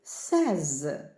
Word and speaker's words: says: просто додаємо закінчення S але воно буде вимовлятися сез у третій особі однини Отже ви Якщо провідміняли то вимова буде такою а say я кажу говорю you say ти кажеш говориш але he says він каже говорить She says вона каже говорить it say воно каже говорить Отже S sчотири букви ми так пишемо але вимовляємо say he say She say it says далі reads і wases